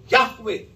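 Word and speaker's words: Jehovah: फिर इसी के साथ एक और भी तलफ़्फ़ुज़ इस्तेमाल किया जाता है, और वो YHWH की बुनियाद पर याहवे।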